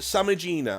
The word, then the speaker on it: Samigina: don't know hi North my name is uh Sam Gina I'm going to call it Gina with a hard G okay but you can